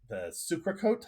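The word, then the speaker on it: socarrat: And we both, I think, agree that the sucrecote, how do you pronounce that? The socarat. Socarat. You got to roll that R.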